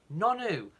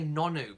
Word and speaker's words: Nonoo: Yeah, I keep wanting to say Nonoo because the N and the double O are joined, so to me it's Nonoo, but I think I've heard it pronounced Nunu, so there we go.